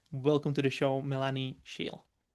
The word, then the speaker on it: Shiell: Welcome to the show, Melani Shiel. Thank you. Thank you so much. Hopefully I pronounced your surname properly.